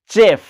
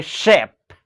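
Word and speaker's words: chef: हबो cash polish flash चेफ आमे कोई परिबा सेफ माने जे रसोया जे कुकिंग करंती किंतु जेहेतु एठी अछि SHEF आपण चेफ न कोई कि आपण कबे शेफ shadow shadow short finish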